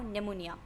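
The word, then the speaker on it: pneumonia: नाउ निमोनिया, ये P silent है, निमोनिया कहते हैं।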